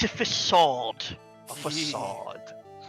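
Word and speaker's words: façade: understand how to pronounce the little squiggly C.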